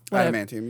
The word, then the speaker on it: adamantium: is when he gets the adamantium Adam manum adamantium you said it right adamantium into his bones